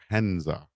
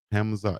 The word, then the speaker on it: Hamza: From his sisters is the nickname from for Hanza. Make sure I say it right. Hamza. It's Hamza, right? H A M Z A.